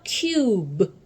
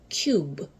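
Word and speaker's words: cube: 자기는 소리 날지 않으면서 앞에를 원래 알파벳 이름으로 바꿔 줍니다.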